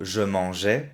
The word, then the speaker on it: je mangeais: Le verbe manger, si digo en pasado, passé composé, j'ai mangé, y en imperfecto, je mangeais, son dos pronunciaciones diferentes. Je mangeais, imperfecto, j'ai mangé, passé composé.